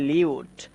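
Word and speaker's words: lute: এই যে আমরা এটা উচ্চারণ করব লিউট। লিউট মানে হচ্ছে বিনা।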